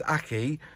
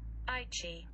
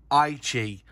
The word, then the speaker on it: Aichi: I thought it was Aki, but according to Google, when I put it in, how do you say it? I pressed the button. Aichi. Aichi. Okay, just again for good measure. Aichi. Aichi. So that's how Google are telling me to say it.